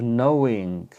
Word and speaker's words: knowing: word some way of knowing many people make this mistake to know something is with a K there's a silent k k n o w knowing then we have constant